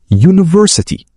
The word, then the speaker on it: university: الحروف تاخذ ان مثال يونفرسي تبدا بحرف يو لكن نطقها يبدا بصوت يو لذلك نقول ا يونفرستي وكلمه يوزر نقول نقول